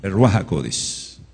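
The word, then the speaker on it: Ruach HaKodesh: Ahora, si en tu Biblia, en tu tanaj, en la versión que tú tienes la ruaj, no no no pronuncies así. Ruajacodis.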